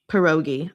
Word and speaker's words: pierogi: Pierogies? Is that it? Let me ask. Pierogi. Okay, I put too much emphasis on pie.